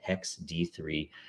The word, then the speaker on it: 0xd3: That's really how you pronounce it, apparently, Hex D3.